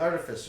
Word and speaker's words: Artificer: It's the Artificer.